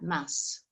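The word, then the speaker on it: ます: that ending is but the su at the end is so quiet that it really just sounds like mass all right with just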